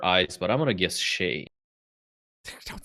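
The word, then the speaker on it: Shai: It's not Shy. No. I do say Shay. What? When I- Why? When I remember to say Shay. Ah. When I remember what pronunciation I've decided upon.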